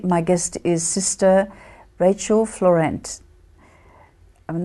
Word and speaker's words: Fleurant: name and today my guest is sister Rachel Florent I'm not sure if I'm pronouncing your name properly but no you're doing